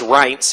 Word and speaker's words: Reince: Reince Priebus and again his name is rights it rhymes with pints who's kind of looking